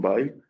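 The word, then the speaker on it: Weil: el apellido se pronuncia en alemán, es creo que es eh de familias eh eh judías, ¿no? Que hermano Parla antes en Alsascia, Simon Baile.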